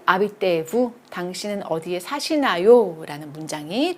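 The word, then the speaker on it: habiter: 거주하다 살다라는 동사 아비떼가 되겠어요. 저거 아씨 발음 안 나니까 이렇게 난다라고 했죠.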